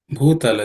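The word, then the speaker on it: भूतल: Shayya Bhutala Majinam Vasa, in that line, the Bhutala, and the Bhu is from the fourth letter in the Pa Varga, so it has to be aspirated.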